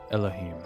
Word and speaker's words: Elohim: I also think I was pronouncing his name Elohim. Although, when I listened back, I think he said Elohim. Ella, like El. Elohim.